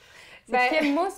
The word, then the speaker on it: Kimousse: Kimous ou kimous, je sais pas comment tu le prononces. Ben dans le fond, c'est vraiment Kimousse parce que moi mon nom c'est Kim.